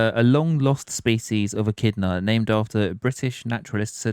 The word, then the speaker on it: echidna: I think that's how you pronounce it. Anyway, it's ECHIDNA. Echidna.